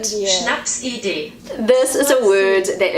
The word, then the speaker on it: Schnapsidee: This word is Schnapsidee. That's how I say it as a New Zealander. This is how Google says it. Schnapsidee.